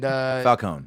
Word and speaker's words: Falcone: And Falcone. Yeah. I pronounce the E. That's how the dwarves say it.